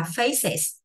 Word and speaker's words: faces: Thì nó có chữ ES mà có chữ CE ở đây bắt buộc người ta bắt phải đọc là is. Vậy thì mình phải đọc là faces.